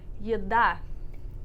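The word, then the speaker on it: еда: This one also at the beginning, so it retains the y sound. Yeah. So it sounds like yeda. Yeda.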